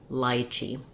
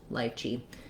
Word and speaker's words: lychee: kiwi first syllable stress or this letter y can also say the i diphthong which sounds like lychee lychee so the ch sound um is just the pushing that voiceless sound out so lychee lychee that's one way to go for either of those and then let's take